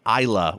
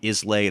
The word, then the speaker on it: Islay: is what's called an ila whiskey it's it's spelled is la whaai but it's not is lait it's not Islay it's ila and that is a